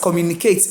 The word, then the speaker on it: communicate: But now that I know that communicate ends in ATE, I should put the stress in the third to last syllable.